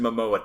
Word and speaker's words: Momoa: A Jason Momoa type.